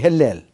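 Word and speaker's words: הילל: 이라고 원어는 그렇게 발음해야 돼, 헬렐.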